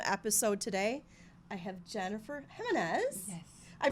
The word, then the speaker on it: Gimenez: I have Jennifer Gimenez. Yes. I pronounced it right?